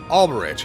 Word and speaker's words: Alberich: I might be pronouncing that wrong. No, apparently text-to-speech says I'm pronouncing that right. Alberich, huh?